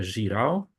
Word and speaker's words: Girão: seminar uh Our Guest today is Jiro or should I pronounce it differently no that's fine that's fine